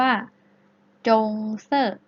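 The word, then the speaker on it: 棕色: ตาล ใน ภาษา จีน น่ะ จะ พูด ว่า จงเซ่อ จงเซ่อ จงเซ่อ อ่า นัก เรียน ออก เสียง ให้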